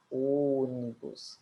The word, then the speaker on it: ônibus: e por quê Porque na palavra história o som é aberto e já na palavra ônibus o som é fechado Preste atenção nos sinais